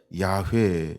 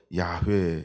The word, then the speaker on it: 야훼: 우리가 이제 그래서 영어로는 여호와 이렇게 하는데 히브리어로 우리가 야훼 이렇게 이제 발음을 하는 거죠. 이건 정확한 발음은 아무도 모른다. 그러니까 뭐 그렇게 하지만 보통 우리가 야훼 이렇게 발음을 합니다.